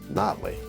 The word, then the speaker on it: Nottely: Blairsville Lake is Lake Nottely. Locals say Nottely.